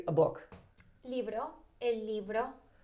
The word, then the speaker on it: libro: Libro El libro. That sounds, it's got a B or a V in it, because it sounds like you're saying a V. A B. A B. El libro.